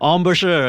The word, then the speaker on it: embouchure: is not so good how do you say ambrose ambershire sure embouchure okay right pardon my french